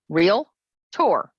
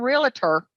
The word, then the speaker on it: Realtor: means member of Nar realtor only has two syllables real tour real tour not realtor real tour Realtors should always be